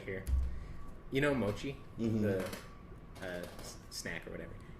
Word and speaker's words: mochi: So it's mochi, not mochi. It would be an S if it was mochi.